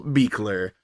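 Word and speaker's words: Buhler: director it's beer it's spelled buler but I looked it up and it's beer um so as a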